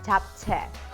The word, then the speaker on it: 잡채: delicious korean dish called tap te or chop tech i never know how to correctly pronounce it in english in korean it's top tech so it is it